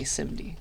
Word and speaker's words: SIMD: I guess who knows pronounce it however you'd like but at least this one people people tend to say simd all right so szd